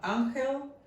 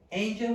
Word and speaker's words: Anxel: so a I am anel my name is pronounced angel in English you can uh use both so uh I am